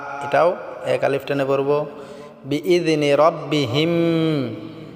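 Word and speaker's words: بإذن: এক আলিফ টেনে পড়বো বিজনে রব্বিহিম বিজনে বলতে আমরা জালটাকে পাতলা করতে হবে বিইজনি বললে হবে না বিইজনি রব্বিহিম হিম টা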